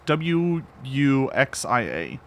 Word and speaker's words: wuxia: Actually, if you want to be really OP, you want to be in manhwa with a UA, the Chinese one. It's spelled with an X. It's Wuxia.